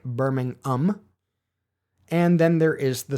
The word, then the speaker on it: Birmingham: And when I say Birmingham, apparently the ham is more pronounced than I realized. A Brit would pronounce it more like Birmingham.